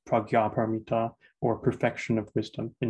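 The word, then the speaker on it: prajñāpāramitā: called a project which in nepal is usually pronounced pragya paramita or perfection of wisdom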